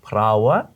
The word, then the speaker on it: parāoa: Fried bread is prawa, bread, Prawa. and prai is to fry. So he prawa prai. He Try that prawa one. It's got a lot of pr in it. Roll your R's.